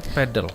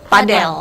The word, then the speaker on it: padel: Gimana sih bacanya pedal? Padel. Oh, padel.